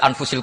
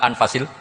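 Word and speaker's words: أنفس: Di sini ditulis anfusil kutub. Kalau saya baca anfasil kutub karena maknanya kitab terbaik. Kalau kitab terbaik bacanya bukan anfus tapi apa? Anfas.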